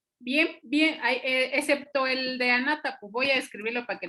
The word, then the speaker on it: Anátapu: Bien, bien, excepto el de Anátapu.